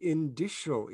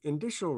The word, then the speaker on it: indicial: let's talk about the indicial equation indicial rhymes with initial so you may be